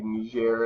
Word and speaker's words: Niger: new year you can I think pronounce it either way I've always said Niger but I didn't maybe me share is a little bit more acceptable pronunciation so long does the